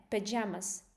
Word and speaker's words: pajamas: Pajamas pajamas. That's the only difference. pajamas. Pajamas. These sounds um the first Yeah. part. You can barely hear it because the stress is on jamas.